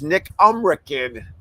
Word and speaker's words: Nick Umrican: I've been saying his name wrong all these years. It's Nick Umrican.